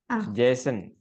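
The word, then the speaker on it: JSON: d JS o n Jason dibacanya Jason ya kemudian kalau apa namanya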